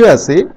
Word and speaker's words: स: स में जीभ को हम दोनों दांतों के ऊपर के जबड़ों के बीच में, दांतों के बीच में हम लाते हैं, तब जाकर इसका उच्चारण निकलता है स।